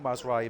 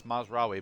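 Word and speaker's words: Mazraoui: noticed but I've noticed I know I'm saying Ma his name wrong or Maz RI whatever how you pronounce it but I like mazra better I know it's how you pronounce it it's Maz RI but I don't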